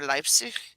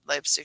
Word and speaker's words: Leipzig: were made the finals in the Hörspiel Summer Leipzig, which is the annual audio drama festival in July, I believe, in Leipzig, Germany.